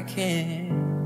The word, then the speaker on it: can't: Ele não pronuncia o T aqui de can't. Na verdade é como se essas palavras se juntassem, né? Como se os T's aqui se fundissem, digamos assim. Então fica uma coisa só.